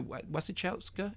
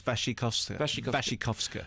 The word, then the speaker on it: Wasikowska: And in fact, I think Mia Wasikowska, is that how you pronounce it? No. Okay, how do you pronounce it? I think it's Wasikowska.